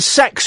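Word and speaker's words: CeX: we went into the sex shop you know um Computer Exchange Tex but apparently it's pronounced sex right and we went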